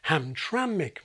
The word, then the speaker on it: Hamtramck: the same sound, schwa, It's like the vowel that's epenthesized in Hamtramck, Michigan. Welcome to Hamtramck. Pronouncing nk at the end of a word isn't physically difficult, nk. But English doesn't allow it, so it gets broken up.